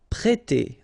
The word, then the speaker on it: prêter: We've got here this accent circumflex on the top of E, so if you remember carefully, it will produce the sound E, so really open, E, so prêter, prêter.